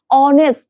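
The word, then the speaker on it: honest: বুঝানো হতো তা হচ্ছে তাইলে এইখানটাতে এবা হবে অনেস্ট উচ্চারণ কিন্তু ও এর মত হয় অনেস্ট এ দিয়ে শুরু বাট উচ্চারণ ও এর মত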